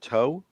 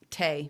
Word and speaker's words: Tae: Is it Toe? Tay. I called him Toe. Well, T-A-E. it's pronounced.